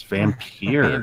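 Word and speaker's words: Vampyr: I think that's how it's pronounced. So I'll talk a little bit about that later on. Vampire? Oh, man. It's Vampire.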